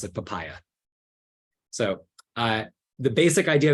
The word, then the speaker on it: papaja: it possible is called papaya spelled papaja um because I'm a silly American but it's actually a German package um written by Frederick oust it's an amazing contribution uh and you pronounce it papaya so uh the basic